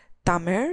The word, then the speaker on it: Tamil: Tamil has its own script, and Tamil is actually pronounced as Tamir.